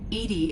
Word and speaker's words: EDI: airlock is a jar why are you named Edy Edy is the phonetic pronunciation of e di that is an acronym